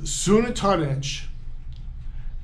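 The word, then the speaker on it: Xunantunich: There's Sunatunich. And Sunatunich is awesome. Now, it has a very weird spelling, but an X in this part of the world is pronounced as an S.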